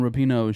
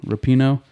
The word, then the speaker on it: Rapinoe: I want to talk about this Megan Rapinoe shit. I think that's how you say it in her name. Megan Rapinoe? Rapinoe.